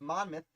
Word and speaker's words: Monmouth: We got Ashley with Monmouth and historical with Bunker Hill. It's Bunker Hill. I pronounce things silly sometimes, and the truth of the matter is, it is the Battle of Monmouth.